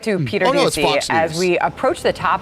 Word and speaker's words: Ducey: And I commonly mispronounce their name as douchey.